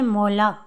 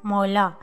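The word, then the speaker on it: molar: दाढ़ को इंग्लिश में बोलते हैं मोला, आर साइलेंट होगा, मोला।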